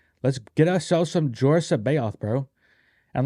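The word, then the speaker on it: C'baoth: a convention and Timothy zon said it was pronounced that way Sao right s it was like Sao and so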